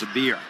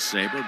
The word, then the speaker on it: Sabir: stay with that, Lawrence Sabir. I was told it was Saber, but they're saying Sabir, and I'll go with their pronunciation.